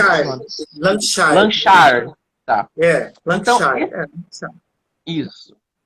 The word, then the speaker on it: Lancashire: Como é que se pronuncia? Lancashire. Lancashire.